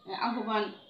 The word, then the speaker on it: আহ্বান: তো মোটামুটি এই আমরা জানলাম যে আহ্বান শব্দের উচ্চারণ আমরা কিভাবে করব, আহ্বান।